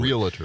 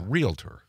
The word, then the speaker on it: realtor: My dad was a realtor. And he hated, you know, that, too? You all do. Realtor. Because everybody mispronounces it. It's a realtor. Yeah. That's right. Yeah. Not realtor.